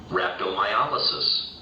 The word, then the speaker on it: rhabdomyolysis: Okay, listen to how it's pronounced, guys. Listen. Rhabdomyolysis.